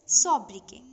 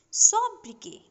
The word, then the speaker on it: sobriquet: So children, we pronounce this word as sobriquet. Sobriquet. Notice that the last T is silent.